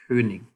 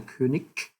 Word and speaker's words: König: So notice the G at the end. G. So it should be pronounced König. König. Right? So apparently in certain regions down here, it's called a König. So it's actually more like a K sound.